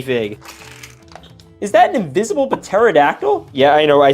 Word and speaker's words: pterodactyl: Is that an invisible pterodactyl? Yeah, I know. I said pterodactyl. I don't care. I know the P is silent.